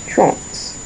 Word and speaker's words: trente: 30, 30, which is trente. Trente. Trente. I don't know, is there an example? Trente, that's a French word. But trente, yes, trente. One syllable, trente. So not trente, trente.